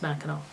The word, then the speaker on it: Mackinac: pellet with the W Mackinac okay but it's pronounced Mackinac you know a lot of Mackinac Island is